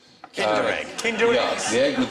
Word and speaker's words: Kinder: extra point for that it is actually rhymes with tinder egg kinder egg kindred the egg